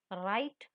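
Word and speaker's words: write: राइट, W silent है, लिखना।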